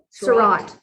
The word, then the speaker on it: Seurat: Seurat.